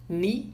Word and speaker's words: knee: Lembrando que, né, uma coisa aqui da fonética, sempre K e N, sempre quando você vê K e N no inglês, o K não é pronunciado, tá? Então, know, knew, que é o passado de know, knee, que significa joelho, knock, que é bater, né? São palavras que se pronunciam sem o som do K, tá?